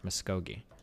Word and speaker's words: Muscogee: But, um, yeah, that's Muscogee. Muscogi. So, oh, hard G. Sorry. Muscogi.